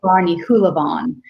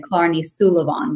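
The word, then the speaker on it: Clár Ní Shúilleabháin: So it actually Clarny Hulavon, and I was reading too fast. I think I said Clarny Sulavon, but it's actually Clarny Hulavon.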